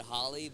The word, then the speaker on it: Holy: It should be said Holly, but they Romanized it to Holy, and so either way y'all want to do it, it's spelled Holy, but you can say it Holly if you want, or Holly, As a Holy.